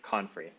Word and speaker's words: Confrey: It's Confrey.